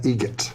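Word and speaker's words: Eget: How do you say the name? Adam Egget. Egget. Spelt differently. Like the bird. That's Egret.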